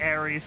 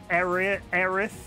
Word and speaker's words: Aerith: I am constantly impressed with how adorable they made Ares and I'm just gonna say Ares because that's how I grew up pronouncing their name. Aerith.